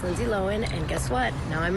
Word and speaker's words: Lohan: Hey everyone, it's Lindsay Lohan, and guess what? Now I'm on TikTok. Lindsay Lohan? She just doesn't emphasise the H the way Aussies do.